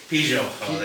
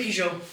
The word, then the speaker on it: Pigeau: EVERY TIME I'M AT A COMEDY SHOW, I say pou like a car. Yes. Very, very, very much like the car.